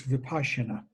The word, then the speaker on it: vipashyana: Vipassana is the Pali word, and in this tradition we use the Sanskrit, which is very close. It's vipashyana, means they're identical, they're just pronounced slightly differently.